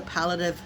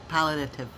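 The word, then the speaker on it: palliative: If I'm saying it wrong, I'm going to spell it for you because I it took me months to even figure out how to say palative care. It's P as in Paul. A L L I A T as in Tom.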